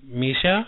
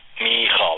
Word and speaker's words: Michal: Is it Misha? Oh. What? Michal, like Michael, but...